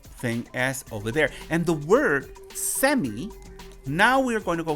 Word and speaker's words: cemi: So, and that word is pronunciated like semi. But the beginning is like saying, you get over here. So you hear that sound. So semi is with a T sound, semi, and it will explain itself.